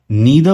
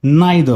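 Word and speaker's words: neither: तो या तो आप उसे ईदर बोलिए या आइदर बोलिए, या इसे नीदर बोलिए या इसे नाइदर बोले। स्पेलिंग सेम रहेगी, प्रोनाउंसिएशन दोनों में से कोई भी हो सकता है।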